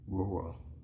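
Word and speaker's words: Nwora: with Bruce round not nobody expected that Jordan ruro that's how his name is pronounced I've heard it's not no got the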